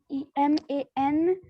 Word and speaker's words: women: Ma'am, WOMEN. Ma'am, apostrophe S. Beta WOMEN apostrophe comma and s, and it is not woman, it is women. There is a difference in pronunciation.